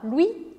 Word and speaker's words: Louis: Louis. Louis. Não pronuncie esse S. Louis. Aqui a gente tem o caso do O-U, que sempre vai ser o som U em francês.